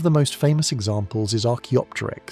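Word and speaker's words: Archaeopteryx: One of the most famous examples is Archopterix. Say it like Archopita Rex.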